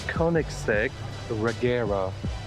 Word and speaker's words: Koenigsegg Regera: yes i know look how do you pronounce the name so this is the koenigsegg regera it's swedish it means to rain so koenigsegg